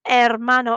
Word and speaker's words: hermano: abuelo mi umbrella me can you see that the h's on hermano and hermana are in gray because they're sh silent letters try once more escuchas